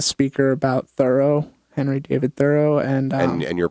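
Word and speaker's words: Thoreau: there was a speaker about Thorough, Henry David Thorough and um and and you're pronouncing it correctly.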